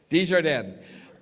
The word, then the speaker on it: Desjardins: Say it again, pronounce it. Desjardins.